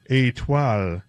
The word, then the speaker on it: Étoile: Étoile. I even wrote out a pronunciation for myself.